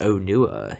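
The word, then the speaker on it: Onua: over the boot but you basically emphasize the oh so it's Oh nua yeah yes only what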